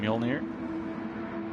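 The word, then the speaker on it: Mjölnir: Thor's hammer foreign not that big of a difference in how the English say it and how the say that name actually biggest difference is mule from the English pronunciation and mural from the Norwegian so uh Graham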